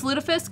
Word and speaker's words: lutefisk: get some Rick dishes where's our Rick dishes ludafisk that's right it's pronounced what's lutefisk it's Cod that's been soaked in live you